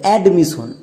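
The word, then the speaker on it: admission: এই ওয়ার্ডটির উচ্চারণ হবে এডমিশন।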